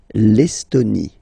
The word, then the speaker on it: Estonie: L'Estonie, final E, not pronounced. L'Estonie. La Lettonie.